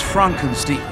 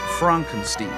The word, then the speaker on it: Frankenstein: That's Frankenstein. My name. It's pronounced Frankenstein.